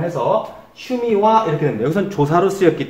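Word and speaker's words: 趣味は: 여기 하라고 되어 있는데 이 하자는 조사로 쓰일 때는 와로 발음한다고 그랬습니다. 발음이 와로 발음을 해서 슈미와 이렇게 됩니다.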